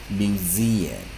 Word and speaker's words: museum: 个 u 再念个落母音 museum。